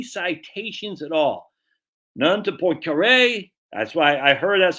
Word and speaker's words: Poincaré: None to Poincaré. That's why I heard that's how you pronounce the name, Poincaré.